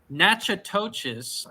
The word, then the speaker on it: Natchitoches: I live in Natchitoches nachatoches I think is how you say that Louisiana is it not